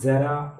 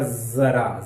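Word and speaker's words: ज़रा: और जिसमें तलबिंदु यानी नुक्ता है, इसका उच्चारण हो गया जरा, ज कंपन युक्त हो गया, बिखर गई आवाज, तो इसका अर्थ हो गया थोड़ा सा।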